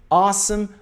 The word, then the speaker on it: awesome: Repare na pronúncia a. Awesome, awesome, awesome, awesome. Não é awesome ou awesome. Muita gente fala awesome. É a. Awesome. Som de a, tá bom?